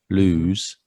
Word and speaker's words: lose: opposite in a way lose has a long vowel sound lose and it's only got